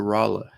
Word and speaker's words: Rolla: uh marlene's from rolla i learned how to pronounce it right it's rolla rolla north carolina actually when my brother's wedding was there back in 2011.